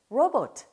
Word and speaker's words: robot: 발음할 때 로봇가 아니라 robot.